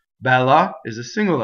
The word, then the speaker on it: Bella: so first thing is we have a double L so how we do a double L is that we hold the L in position while we our vocal cords are engaged so while we phone 8 right so that makes a double L Bella is a